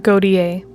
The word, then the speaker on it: Gotye: Gautier is how I always have pronounced it, but I'm probably wrong. It's pronounced Gautier, by the way.